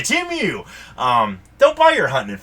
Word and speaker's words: Temu: Temu. Did I say it right this time? I think. You always say it wrong. Temu. That's what you always say. Temu.